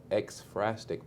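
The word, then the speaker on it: ekphrastic: to be creative there's a poetry style called Xfrastic poetry.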